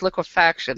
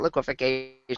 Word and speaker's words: liquefaction: in the yeah yeah I always I always want to put an extra syllable in that it's liquefaction it's not liquefication always I do that